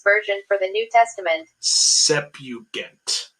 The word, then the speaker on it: Septuagint: Septuagint. The T silent.